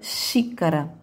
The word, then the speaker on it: xícara: Na palavra xícara.